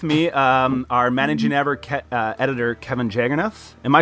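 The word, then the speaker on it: Jagernauth: And I have with me our managing editor, Kevin Jagernoth. Am I saying that right, Kevin? Yeah, actually, just like the Django trailer, the H is silent.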